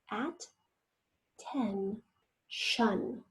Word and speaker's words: attention: Yes, yes, the next word is attention. Go ahead and write that one down. At-ten-shun. Not jeune, but shun this time again.